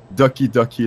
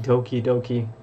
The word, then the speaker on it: Doki Doki: heard about it why duckie duckie literature club I can write it down it's lucky ducky like this literature club okay I would pronounce that Doki Doki 5 yeah I guess